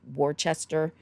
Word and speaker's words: Worcester: And if you are looking this up, Worcester looks like it's spelled like Worcester without the H, but it is pronounced Worcester.